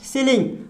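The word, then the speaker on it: ceiling: देखिए यहाँ पे क्या लिखा है, सीलिंग। अब यहाँ पे आपको पता है कि सी से सौ और को होता है, लेकिन यहाँ पे आपको सी का उच्चारण सौ आ रहा है।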